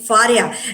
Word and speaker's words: Fariha: Absolutely, that's great, Faria. Actually, I was pronouncing your name absolutely wrong, but this is Faria, right? Faria Imran, right? Yes, Fariha Imran.